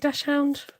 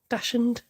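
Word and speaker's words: dachshund: Lily is a dash do you call it dashound people pronounce it all differently don't they dashen dashound so I've just used two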